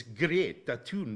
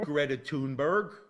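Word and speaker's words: Greta Thunberg: a G tell me how the Swedish people say her name I met her actually getting a cotton buy do you hear that everyone her name is great that tune daddy not Greta tune berg right it's Betty it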